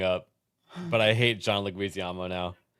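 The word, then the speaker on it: Leguizamo: But I hate John Leguisamo now. How did you pronounce it? It's It's pronounced Reuters and that one is pronounced Leguisamo. Leguisamo.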